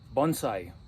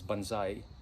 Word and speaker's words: Bonsai: I wanted to document this for future reference Bonsai it's Japanese for trees in a pot by the way I wanted to make some correction a lot of people in this country they pronounce mispronounce it as Banzai it's really Bonsai Bonsai is a Battle Cry